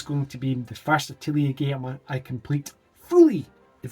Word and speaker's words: Atelier: It is Alteria, I can never say it properly, Atelier Sophie 2, The Alchemist of the Mysterious Dream.